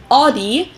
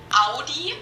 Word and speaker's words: Audi: first one is audi most americans that i know pronounce it like i just said it audi in german we say audi that's why yeah it's